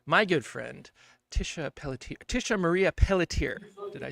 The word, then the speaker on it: Pelletier: Tisha Marie Pelletier.